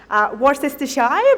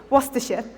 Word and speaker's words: Worcestershire: specific words for example my first instinct when i see this is to go war sister shy but actually the correct condensation is worcestershire so there are certain